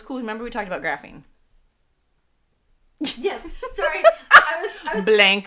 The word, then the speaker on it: graphene: What are other graphene? And that's what my brain went. Graphing. No, she didn't say ing. She said ing. Graphene.